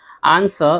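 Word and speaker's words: answer: उसके अलावा भी कुछ मिसालें हैं जैसे कि देख सकते हैं who, home, whose, whole, आंसर, सोड, इन सब में भी डब्ल्यू है लेकिन डब्ल्यू को नहीं पढ़ रहे हैं।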